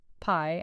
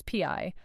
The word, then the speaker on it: Pi: anytime anywhere push note I think it's very funny that you pronounce Pi P you don't even pronounce your own name right haha you make a